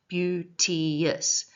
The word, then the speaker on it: beauteous: But three syllables, beautious. But it is said as two syllables because that fits in with the rhythm that is created by 10 syllables per line.